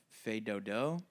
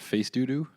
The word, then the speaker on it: Fais Dodo: It's called Fais Dodo. Spelled FAIS and DODO. it's a French pronunciation. It's not face doo-doo, no matter how much you want it to be.